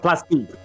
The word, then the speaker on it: plastique: That was pronounced plastique. If it's spelled that way, it is. Only when it's spelled that way, which is the French way of spelling plastic.